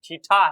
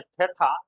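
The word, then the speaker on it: theta: हालांकि आप लोग इसको गलत प्रोनाउंस मत कीजिएगा। यह थीटा है। इसलिए मेरे दोस्त है ठठा।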